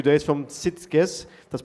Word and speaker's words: Sitges: And we have also visitors coming tomorrow for 2 days from Sitges, that's pronounced right, the strong tournament up in Catalonia in Spain.